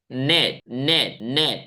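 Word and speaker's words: knit: देखिए स्पेलिंग क्या है के एन आई टी लेकिन यहां पे के साइलेंट होता है के नहीं पढ़ते हैं हम के नीट नहीं बोलते हैं हम बोलेंगे नेट चलो तीन बार प्रैक्टिस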